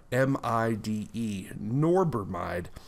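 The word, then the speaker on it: norbormide: that's kind of being re-resurrected again that norbermide is spelled n-o-r-b-o-r-m-i-d-e norbermide and it is an acute rhodena side acute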